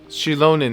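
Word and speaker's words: Xilonen: I'll reach out to chilonin right away she's the one who will Forge the name sheilon that's how you pronounce her name okay we've never forged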